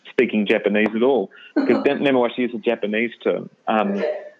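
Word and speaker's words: 根回し: Yeah, Nemawashi. Yeah, no, it's spot on. It says he who has no deep expertise in speaking Japanese at all, because Nemawashi is a Japanese term.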